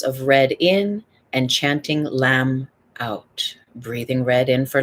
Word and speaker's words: lam: spine the sound is lamb l a m let the m ring out let your l ring out chant it high or low breathing three rounds of red in and chanting lamb out breathing red in